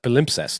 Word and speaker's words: palimpsest: It's pronounced palimpsest.